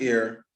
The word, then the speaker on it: heir: Our, honest, honor, honorable, and heir should not be pronounced with an H.